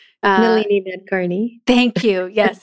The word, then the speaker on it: Nalini Nadkarni: Dunham and, I'm always going to say her name wrong. Nalini Nadkarni.